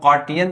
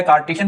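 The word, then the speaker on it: Cartesian: Rectangular coordinate system का दूसरा नाम जो है ना वो कार्टियन प्लेन होता है। तो कार्टियन भी प्रोनाउंस किया जाता है, कार्टिशियन भी प्रोनाउंस किया जाता है।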